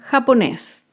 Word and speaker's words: japonés: Otro ejemplo con la palabra japonés. Japonés es una palabra aguda. Se acentúa en la última sílaba y lleva tilde porque termina en la consonante S.